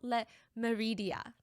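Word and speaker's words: Le Méridien: It's called Hotel Le Meridia. I'm trying to pronounce it in the French way.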